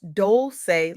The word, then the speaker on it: Dolce: I'm Dolce, pronounced Dolce like sweet softness whispered in French.